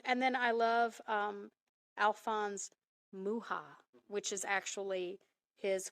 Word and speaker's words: Mucha: would know him as Muka or mucha but Alphonse uh was uh for he was Czech and the Czech pronunciation is muha and if you are